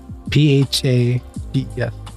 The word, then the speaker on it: phages: PHAGES.